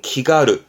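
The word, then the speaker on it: 気軽: 앞에가 기자잖아요 기경이라는 말은 없으니까 기 마음이 가벼운 발음은 기가르 기가르 가루에서 발음이 기가루가 됩니다 그러니까 마음 가볍게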